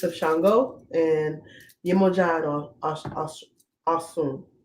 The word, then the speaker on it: Osun: Shango, and Yemoja and Osun. That's how they say it in West African, Alicia. And Dice Berkeley, it's Osun. Either way.